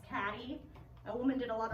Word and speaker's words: Cady: You hear Katie, it's actually pronounced Caddy.